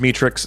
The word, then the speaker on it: Metrix: I've been saying Mitrix. It's actually pronounced Metrix. The problem is it sounds like meat, but it's pronounced like mit, so a little bit confusing. But @Metrix on Instagram for more music by them.